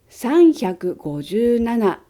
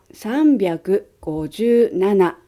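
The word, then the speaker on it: 三百: Nhưng không phải là sanhyaku gojuu nana đâu! Số này đọc là sanbyaku gojuu nana.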